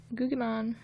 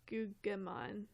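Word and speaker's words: Guggimon: And then Gugimon. I want to call him Gugimon, because that's how you'd say it, like, in Italian, phonetically, but I like Italian, it's my favorite language.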